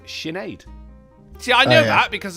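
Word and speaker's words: Sinéad: Pronounced Sinead.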